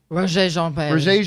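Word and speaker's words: Regé-Jean Page: Tara Jefferson writes, I never know how to pronounce this guy's name from Bridgerton. Roger Jean Page? Is it Roger? Roger Jean Page.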